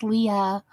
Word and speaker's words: Lee: Most people call me Lee, pronounced Leah.